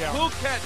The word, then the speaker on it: Phuket: h u k t many people think it's pronounced in a different way but no it is puket ladies and gentlemen he's not he's not the